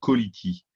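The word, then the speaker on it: Ca2lity: J'ai découvert il y a quelques jours une société française, une petite pépite, qui s'appelle Quality. C'est comme Quality, mais Ok. ça s'écrit Quality, C-A-2-L-I-T-Y. En plus, c'est facile de se rappeler comment ça Ouais.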